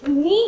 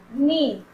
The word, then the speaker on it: knee: जैसे कि नी हो गया, नी हम लोग कैसे लिखते हैं? KNEE, नी।